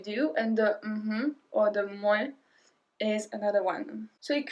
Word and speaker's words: mouais: And the other one is mouais, mouais, mouais. So we make a really long M in front of it.